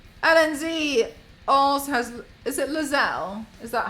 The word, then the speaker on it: Lae'zel: a buckle apparently Lenz Al has is it Lazelle is that how we pronounce the name Al helle as the companion